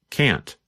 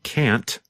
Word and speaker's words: can't: the phone is because there is only a small difference in pronunciation between the positive form can and the negative form can't sometimes you can hear the letter T when we say can't but other times it is harder to hear and it just sounds